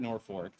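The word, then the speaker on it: Norfolk: which is spelled like Norfork Virginia but we pronounce it Norfork and so we uh some of our local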